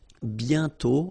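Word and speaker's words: bientôt: mhm and then okay remember you put this a circlex but you don't write it oh you sorry you write it but you don't pronounce it and then the final day is not pronounced bio okay and then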